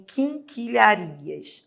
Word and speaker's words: quinquilharias: Dê uma olhada aqui em quinquilharias. Ora, quinquilharias também tem dígrafo, né? Porque eu tenho, ó, o que com u. Você não pronuncia u, você não fala queen, né? Você fala king.